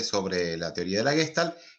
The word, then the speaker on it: Gestalt: de la gestalt con este término que se pronuncia gestalt es una palabra alemana se consiguió un cuerpo